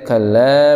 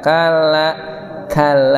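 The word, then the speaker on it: كلا: Dan terakhir tadi bacanya tadi baca kalla bal tukadzibuna kalla, tidak kalla ditekan kalla dah gitu. Kalau baca kita baca kalla, beda kan? Kalla lebih jelas.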